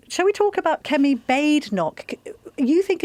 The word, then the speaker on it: Badenoch: Yeah, she said it's Badenoch. It's Scottish.